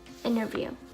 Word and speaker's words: interview: this one is interesting when the T is after the N in the word we are not going to pronounce the T but we will pronounce